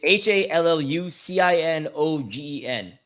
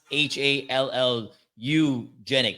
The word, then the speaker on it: hallucinogen: It's HALLUCINOGEN, not HALLU genic, which is what you said.